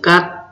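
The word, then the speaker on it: 吉: Chữ thứ 7, chữ này đọc là chữ cát.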